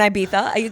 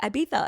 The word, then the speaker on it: Ibiza: and Ibiza. It started with Ibiza because I would be Ibiza. yeah, because I'd be like, oh yeah, I really want to go to Ibiza.